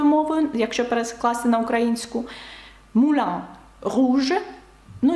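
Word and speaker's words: rouge: якщо перекласти на українську руж Ну і вам зрозуміліше чому не читається наприкінці тому що це таке правило Ну і звук у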